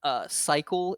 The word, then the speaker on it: Siekal: You walk in and you're like, you almost instinctively start walking towards Cycle is like the big clothing store, like the fancy clothing brand that's spelled Siekal for the record.